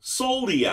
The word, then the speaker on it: Soliai: Soliai. Three times fast. Soliai, Soliai, Soliai.